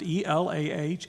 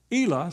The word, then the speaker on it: Elah: That's how I pronounce it, E-L-A-H, Elah.